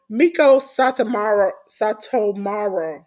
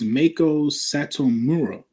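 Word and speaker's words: Meiko Satomura: Miko Satomaro. Pronounce that right, J.News? It's Mako Satomura. Mura. See.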